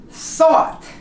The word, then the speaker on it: thought: High, as in high, thought, you don't pronounce the G.